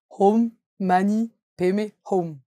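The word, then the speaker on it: Om mani padme hum: man P home alors ça se prononce home man P home et ça veut dire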